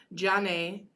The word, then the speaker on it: grzane: Jane, spelled Grzane, is mulled, and Pivo, Piwo, is beer in Polish.